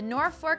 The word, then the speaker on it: Norfolk: The Norfolk citizens couldn't overrule the postal authorities, but they did refuse to change the pronunciation, and to this day, it is known as Norfolk.